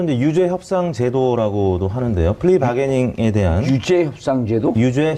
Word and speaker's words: 플리바게닝: 그래서 좀 플리바게닝. 예. 아무튼 이제 그 기소적 독점주의를 채택하고 있는 이제 우리나라 법제도 하에서 이 플리바게닝이 이제 공식적으로 채택되지는 않았는데요.